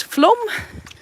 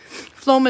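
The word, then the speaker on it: Flåm: the county and then there's floam floam is the closest one fla with a circle over it m if you want to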